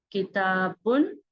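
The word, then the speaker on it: كِتَابٌ: The correct one is, this is kitabun, a book. You need to remove n sound, that is one dhamma, and it becomes al-kitab, the book. So you can see here we need to remove this one. That means one dhamma we should remove, and then it becomes al-kitab. Kitabun, it's a book. Al-kitabu, the book.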